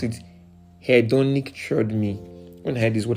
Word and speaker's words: hedonic treadmill: It's pronounced as hedonic treadmill. HEDONIC, then treadmill.